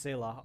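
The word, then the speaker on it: Scylla: to the port I don't care if it's pronounced Sila I'm going to call it skila because skila sounds more bad as to deport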